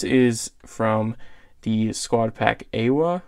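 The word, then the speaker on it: AIWHA: This is from the squad pack AWA, I think is how you pronounce it. It's A-I-W-H-A.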